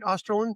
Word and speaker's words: Osterlund: Am I pronouncing that right, Austerin?